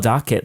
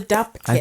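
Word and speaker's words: Dopp kit: I always call it doc kit, D-O-C. Oh, I think it's DOP. What's the correct word? It's called a DOP kit.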